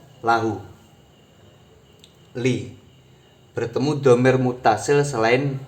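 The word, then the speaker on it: لَهُ: Li bertemu hu berarti membacanya lahu. Li bertemu kum maka membacanya lakum. Li bertemu hunna maka membacanya lahunna. Bukan lihunna, bukan lihu, juga bukan likum.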